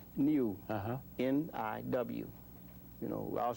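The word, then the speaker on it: niw: How's that pronounced? Niu, Uh-huh.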